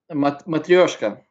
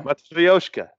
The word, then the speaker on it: Matryoshka: Matryoshka. Yeah. Matryoshka. It's a hard word to say. They have a beer called Matryoshka.